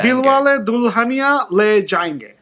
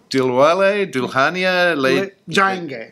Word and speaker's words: Dilwale Dulhania Le Jayenge: So, is it pronounced Dilwale Dulhania Le Jayenge? Dilwale Dulhania Le Jayenge. Dilwale Dulhania Le Jayenge.